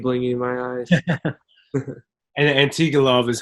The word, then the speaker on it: Antigulov: And Antigulov is how you pronounce it too.